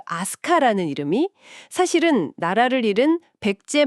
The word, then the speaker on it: 飛鳥: 역시 시작은 아스카 빗자입니다. 저도 예전에 아스카 지역을가 본 적이 있는데 이게 늘 궁금했어요. 한자로는 분명 비조, 나는 세 즉 비조인데 왜 이걸 아스카라고 읽는 걸까요?네 바로 그 지점이 모든 비스터리의 출발점입니다.